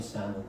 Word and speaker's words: salmon: How many salmon? By the way, this L is silent.